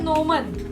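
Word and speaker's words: gnomon: तो उसे अंग्रेजी में बोलते हैं नोमन। जी साइलेंट है, नोमन।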